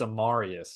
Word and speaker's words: Amarius: night I should say Marius we've been saying it wrong this whole time and I feel terrible amarius that's my apologies it's on me um amarius Mims gosh